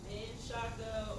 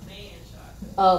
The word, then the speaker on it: Menchaca: Well, it's two ways to pronounce it. Menchaca or Manchaca.